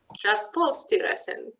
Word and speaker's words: Transportstyrelsen: So in Sweden, this task is performed by, I don't know how to pronounce that, Transportstyrelsen. That's perfect, thank you. Transportstyrelsen, more or less.